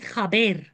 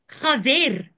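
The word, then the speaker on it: חבר: And the bait can also be pronounced as a V. I'll give you an example of Abraham. You can say Avraham. The bait and the fate basically is the same letter in the Hebrew. You can pronounce it B or V depending on a couple of things.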